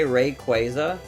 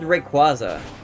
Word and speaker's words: Rayquaza: You know, some people say Rayquaza. That's what I corrected into saying. Isn't that like the correct pronunciation or something? Wasn't there like some recent thing? Because I thought it was Rayquaza, but then I got corrected.